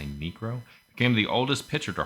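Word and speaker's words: Niekro: Nero n ncro oh I'm not saying it wrong I'm say necro became the oldest pitcher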